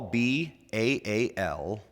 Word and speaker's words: Baal: would actually be B-A-apostrophe-A-L, which is why you would hear a lot of scholars pronounce it as two syllables, Baal.